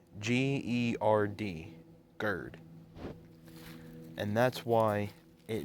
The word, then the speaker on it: GERD: what's it called the disease is called bird it's spelled g-e-r-d gerd and that's why it makes his voice